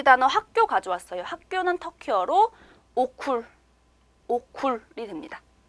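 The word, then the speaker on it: okul: 학교는 터키어로 오쿨이 됩니다. 자, 그럼 우리 여기까지도 원어민 발음으로 한번 알파벳 들어볼게요.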